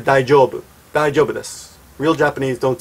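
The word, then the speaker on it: 大丈夫: long time ago saying, is it true that real Japanese say daijobui? No, that's not true. That is a commercial that Arnold Schwarzenegger did a long time ago saying, daijobui! And he made a really silly commercial. I'll try to find a video on YouTube and put it in the sidebar. But nobody says that. It says daijoubu.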